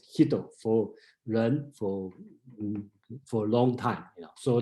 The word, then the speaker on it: 仁: Okay, in pronunciation in Japan they call Hito, and then we call Ren, and then some translation called Gen, Gen, that depend on the dialect you are using.